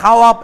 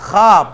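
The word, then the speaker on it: خواب: যেমন দেখেন মাদুলা, যেমন দেখেন খাপ, খাপ, তাহলে ওয়াওর উচ্চারণ করছি, এটা কি খাওয়াপ এরকম বলছি আমি? না, খাপ, ওয়াওর উচ্চারণ করি নাই।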